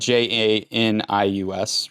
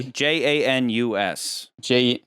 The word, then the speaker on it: Janus: That's spelled Janius, right? No. In Roman mythology. No, Janus.